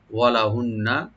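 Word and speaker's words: وَلَهُنَّ: ওয়ালাহুন্না, ওদের জন্য বা ওরা পাবে, মেয়েরা পাবে, মহিলারা, ওয়ালাহুন্না, ওয়া ওপেন রাখবেন, লাম ওপেন থাকবে, আর নুন মুসাদ্দাদ এখানে ওয়াজিব গুণা করে, ওয়াজিব গুণা করে রার সাথে আমরা মিলাবো, ওয়ালাহুন্না, এবং তাদের জন্য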